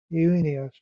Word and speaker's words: Junia: Andronicus is a Greek masculine name, but Junia now, Junia in the Greek would be pronounced Junius or Junius in the ASV.